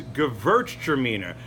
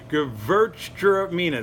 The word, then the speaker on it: Gewürztraminer: This is a hard grape to say, but probably my favorite, one of my favorite, is Gewürztraminer. Gewürztraminer, that's W is pronounced with a V. Gewürztraminer.